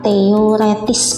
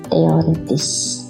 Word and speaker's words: teoretis: Yang tepat teoretis penulisannya, walaupun pengucapannya teoritis.